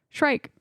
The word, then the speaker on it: Shrike: Shrike. You know what this movie has? Shrike. Shrike. Rules. Yeah. I love Shrike. He is. And no, he is we cool. don't. We're not mispronouncing Shrek.